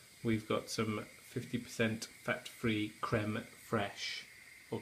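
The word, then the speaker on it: crème fraîche: got some 50% fat-free creme fraiche, or creme fraiche, as I believe the correct pronunciation is, according to Stan's dad in South Park.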